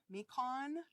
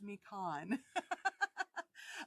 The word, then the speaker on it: Mequon: I said that wrong I asked my husband how to say it because he was born and grew up in Milwaukee and I can't remember what he told me I think it's me Khan um but anyway we